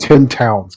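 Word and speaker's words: Ten-Towns: as I said, mate, It's pronounced 10 towns. Get it right.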